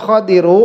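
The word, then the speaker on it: خضر: Siapa nabi Khadir tanbihun Al khadiru bifathil Kho almjamati Khadir itu cara membacanya dengan memfathahkan k yang ada titiknya itu Iya kalau enggak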